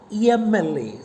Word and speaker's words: MLA: But how do you pronounce it? MLA.